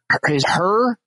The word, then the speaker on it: Hur: his last name and there are afraid of pronouncing that her her yeah I just I said her and